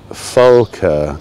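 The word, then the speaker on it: Volke: a guess dean deutschen with a v but it's pronounced as an f folker named deutschen folker go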